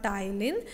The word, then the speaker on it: ptyalin: It is commonly called as ptyalin, salivary amylase, and here P is the silent. So you have to pronounce like the ptyalin.